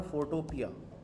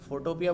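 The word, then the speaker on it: Photopea: अच्छा इसकी सही प्रोनाउंसिएशन वैसे फ़ोटो पी है, सही है, वो पी जो दाल वाला पी होता है ना, वो है ये मटर वाला जो पी होता है, लेकिन फोटोपिया बोलने का भी एक अपना मज़ा है।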